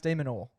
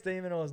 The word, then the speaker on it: Minaur: So is Alex Demonor because it's like a nor, like Yeah, but it's spelled Minaur.